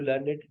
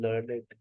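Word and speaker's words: learned: आज के बाद आप कह सकती है आई एम लर्नेड, आज से पहले आप कहती आई एम लर्न। जुमला गलत, प्रोनाउंसिएशन गलत। जब ये एडजेक्टिव बनता है अपना प्रोनाउंसिएशन चेंज कर लेता, आई एम लर्नेड।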